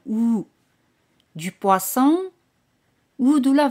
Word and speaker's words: ou: O en francés es ou, se pronuncia como la O española, ou.